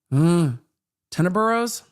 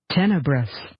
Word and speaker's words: tenebrous: Tenebrose? Maybe, maybe not. Let's see if we get a pronunciation guide on this. Yes, we do. Dark, gloomy, or obscure? Tenebrous.